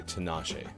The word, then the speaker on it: Tinashe: series uh Siri's telling me in my ear Tinashe is how I should pronounce that so there you go happy 30th birthday Tinashe uh let's see birthdays stay in gaming history